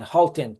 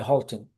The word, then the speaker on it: Hultin: Hin but it's not it's a hard halting. The US people call me Halton.